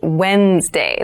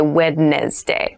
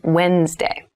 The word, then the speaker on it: Wednesday: mind this is pronounced Wednesday There's a d there but we don't say wedness day we say Wednesday Wednesday the 18th Wednesday